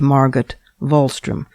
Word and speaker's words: Margot Wallström: Her name is Margaret Volstrom. It's spelled M A R G O T W A L L S T R O M pronounced Margaret Volstrom.